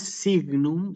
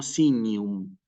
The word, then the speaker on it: signum: cuanto a la pronunciación lo que sucede con la letra g y con la letra n nosotros la tenemos que pronunciar siempre que se trate de latin eclesiástico como una ñ si per sinum no